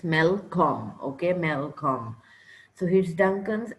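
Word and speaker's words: Malcolm: son okay who is he he is please pronounce these words with me when I say them it's melcom okay melcom so here's Duncan's Elder son and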